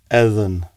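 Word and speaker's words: edhen: The word for bird is Eden. Evan. Per there. Eden. Evan. And Eden. again, could you pronounce that a couple of times?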